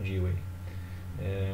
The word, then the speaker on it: Dewey: O Dewey. Mais ou menos assim a pronúncia dele, John Dewey.